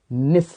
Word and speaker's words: niche: निस या पारिस्थितिकी निच, और इसे निसी के भी नाम से जानते हैं और निक के नाम से भी जानते हैं। बहुत सारे प्रोनाउंसिएशन जो होते हैं निक के हमें देखने को मिले हैं।